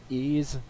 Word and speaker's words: Ys: have to say to the PlayStation Vita version ease which is spelled YS is an action RPG of a